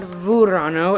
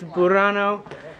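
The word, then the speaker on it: Burano: through the residential area of burrano not vurano it's b-u-r-no i can't spell italian words oh really i was correct yeah but i've been pronouncing it verano but really it's burrano and even on such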